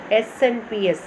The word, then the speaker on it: SNP: അതിനുള്ളിൽ ഒരു single base DNA differences SNPS, single nucleotide polymorphism, pronounced as SNP occur in humans.